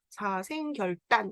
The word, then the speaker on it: 사생결단: 사생결단. 이건 발음은 딴이라고 나죠. 리을 뒤에 이렇게 그드브가 오면은 된 소리가 되지요.